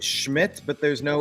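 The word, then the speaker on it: Szmyt: So, his name is pronounced Schmidt, but there's no s.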